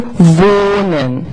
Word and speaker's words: wohnen: So, and you never, you don't have to pronounce this H. You don't hear it. It just tells Germans the vowel will be long. So this here, it's not really pronounced, but it makes the vowel long.